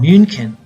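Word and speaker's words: München: city there is Munich in German it's called moonkin and it's hard to say but Munich was the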